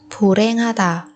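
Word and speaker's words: 불행하다: Ở đây phù và hèn thì chúng ta biến âm thành phù ren, phù ren. Lý do là phụ âm hiệt chuyển thành phụ âm câm khi đứng sau phát chim ri ân như thế này.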